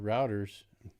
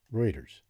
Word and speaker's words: Reuters: Routers. Routers. Reuters. Let's get that pronunciation correct.